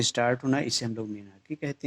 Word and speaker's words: menarche: What is मीनार्क या मीनार्की कहते हैं। ध्यान रखना प्रोनाउंसिएशन, MENARCHE, मीनार्क या मीनार्की कहते हैं।